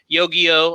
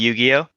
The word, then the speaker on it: Yu-Gi-Oh: on the computer um yogiyo i'm sure that uh jacob's into that i'm sorry can you say that again yo yo uh can you say it correctly it's called yu-gi-oh okay yu-gi-oh blame that though